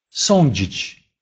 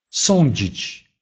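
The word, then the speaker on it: sądzić: Если же звучит после этих букв стоит звук «дж» или «ч», то тогда они произносятся как «онь» или «энь». Например, «сонджич», «сонджич», «судить», «згинонч», «згинонч», «погибнуть».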